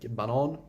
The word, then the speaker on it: banan: Banan, which means banana, but if you pronounce it banan, it means the track.